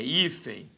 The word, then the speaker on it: hífen: A mesma coisa vai ser hífen ou hífen? É hífen. Nós temos aqui uma paroxítona.